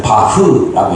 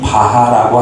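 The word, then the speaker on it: Bach: 요새는 바흐라고 있더라고요. 거기 발음 이렇게 어머니는 핸들인데이 바하라고 하는 우리가 어른들은 바하가 익숙하잖아요.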